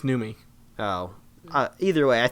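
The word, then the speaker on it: Noomi: Naomi repace possibly well there's no Naomi it's numi oh uh either way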